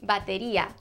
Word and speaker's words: batería: Drums in Spanish is batería. Batería sounds nothing like drums. It sounds like battery.